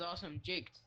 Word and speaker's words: AwesomeJaked: But no, my actual the way you're supposed to pronounce it is AwesomeJaked. So if you see me in a voice call me AwesomeJaked or just.